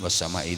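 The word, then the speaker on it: وَالسَّمَاءِ: Coba sekarang baca surat Al-Buruj was-sama'i dzatil buruj. Coba. A'udzu billahi minasyaitonir rajim. Bismillahirrahmanirrahim. Was-sama'i dzatil buruj. Itu was-sama itu panjang nah, itu bacanya harus panjang itu.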